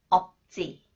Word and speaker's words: 없지: When 지읒 follows the final consonants 비읍 시옷 that is pronounced 비읍 representative sound 지읒 is pronounced 쌍지읒 쌍지읒 쯔 없지 없지 차린 건 없지만 맛있게 드세요.